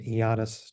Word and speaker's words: Ioannis: He pronounces it Ioannis, just so you know.